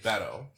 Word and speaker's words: Beto: had Buddha jazz on the judge I think Beto bado boy which I learned it to pronounce Beto Beto yeah yeah which I learned because I